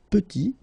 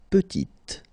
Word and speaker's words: petit: Il est petit, elle est petite. Okay, exactly the same idea. Final T is not pronounced, and then when you add this E at the end, you get the sound T, T, petite.